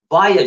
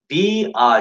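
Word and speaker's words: via: А в английском ничего не объединено, поэтому если написано «вая» читается «вая», да, «вая», читается еще «вия», но редко, «вая». Виа читается, Игорь. Вая, виа – это второй вариант. Два варианта есть. Вая и виа.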